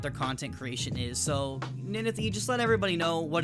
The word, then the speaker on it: Ninethie: So it's pronounced Ninethie. For all of you wondering, if you don't know who Ninethie is, that's how you pronounce the name.